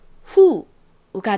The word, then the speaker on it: who: 자, 말씀드렸던 것처럼 이 WH의 발음은 히읗 발음이 나고요. 그리고 O가 왔는데요. 이 O는 무슨 소리가 나나요? O, 우, 아. 이렇게 아 소리가 납니다. 이 단어에서는 그 중에서 우 소리로 쓰였어요. 그러면 히읗 소리와 우 소리를 합치게 되면 who가 되죠.